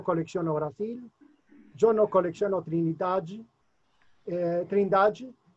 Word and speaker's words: Trindade: Pero solamente la pronuncia es Trindade.